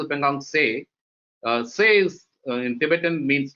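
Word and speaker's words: Pangong Tso: Pangong, it's pronounced as Pangong Se.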